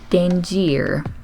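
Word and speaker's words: dingir: old Sumerian sign called Danny ER she pronounced it like danger but with two eyes and that it meant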